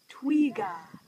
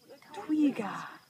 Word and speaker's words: twiga: Twiga. Twiga. Like a twig. Yeah. Twiga. Nakupenda twiga.